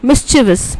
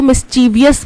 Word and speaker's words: mischievous: Spelling incorrect है, हाँ, क्योंकि कई लोग इसको मिस्चीवियस बोलते हैं, तो मिस्चीवियस बोलते हैं तो वो स्पेलिंग में भी फिर उसी तरीके की गलती करते हैं, होता क्या है मिस्चिवस, ठीक है, MISCHIEVOUS, मिस्चिवस।